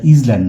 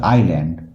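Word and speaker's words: island: অন the river আইল্যান্ড উচ্চারণটা ইজল্যান্ড নয় উচ্চারণ হচ্ছে আইল্যান্ড যেহেতু কেন বলেছে তাই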